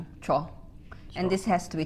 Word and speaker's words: 줘: This has to be one syllable. 줘. 줘.